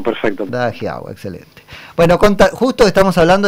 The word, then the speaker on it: Da Giau: No sé si pronuncié bien tu apellido, corregilo si es necesario. Dajiao, perfecto. Dajiao, excelente.